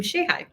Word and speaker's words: Shehaj: name last name shayi yeah guys that's pronounced Shay like in shay butter and hi so say